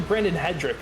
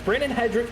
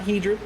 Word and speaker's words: Brandon Hedrick: i'm correcting myself here it's actually brandon hedrick i just remembered that we were i was the one pronouncing his name wrong last week so it's brandon hedrick not he drew want to get these